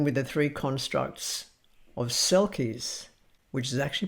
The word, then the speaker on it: selkies: I'm going to begin with the three constructs of Selkies, which is actually pronounced Shelkish, seal people and what they might mean.